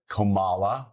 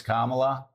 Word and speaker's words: Kamala: make him the other continue to mispronounce their name like everybody seems to do on Fox News when they know better it's kamla I will talk to Republicans that will say Trump Republicans that will say cumala what that's interesting now why do you mispronounce her name when you know it's Kamala make it seem like they're